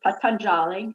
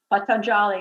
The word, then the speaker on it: Patanjali: So one of the great teachers, Patanjali, everybody pronounces it, a lot of people pronounce it differently, so Patanjali, and the Yoga Sutras.